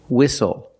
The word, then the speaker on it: whistle: seat belt very good we also see the silent T when you have a spelling pattern s-t-l-e like these words whistle castle and hustle the t is